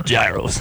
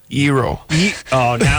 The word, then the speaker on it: gyro: and then you know people you know swear it's a gyro I'm pretty sure it's a hero okay yeah sort of like a hero but with not pronouncing the H that's not even there I'm not jumping into